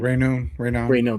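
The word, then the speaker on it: Raynaud: I can't pronounce his last name. Rayno.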